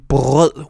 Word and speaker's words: brød: Whenever the R is pronounced, it's usually a deep guttural sound, like in brød, which means bread.